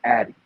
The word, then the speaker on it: AATI: And my ancestors taught me something that I call the Addy, okay? And it's spelled AATI, Addy, right?